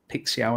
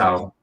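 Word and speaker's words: Paixão: Paixao, I think is how you pronounce it. Paixao. That's what I'm saying. Yeah, we'll go with that.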